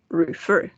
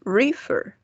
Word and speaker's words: refer: El golpe de voz está en la última sílaba. Refer. No decimos refer.